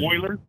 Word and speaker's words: Moeller: How you pronounce it? Moeller. Moeller. Moeller.